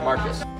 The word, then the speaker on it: Marquez: we are standing in marcus hall it is a building of learning and education it is a place where students just want to be as you can see it's pronounced marcus to see it all